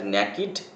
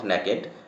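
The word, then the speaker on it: naked: হতো hissing some had ন্যাকিড ফ্লেয়ারস নট ন্যাকেড ন্যাকিড উচ্চারণ করবে সাম হ্যাড ন্যাকিড ফ্লেয়ারস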